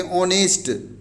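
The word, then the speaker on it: honest: प्रयोग करेंगे इसे देखो ऑनेस्ट मैन यहां पर यस बच्चों साइलेंट है वहां पर उच्चारण करते ऑनेस्ट इसलिए बच्चों देखो एचसी साइलेंट हुआ था इसलिए इसके पहले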